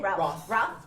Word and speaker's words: Routh: Routh. Routh.